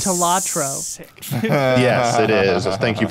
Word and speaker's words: Balatro: I think it's pronounced like, Talatro.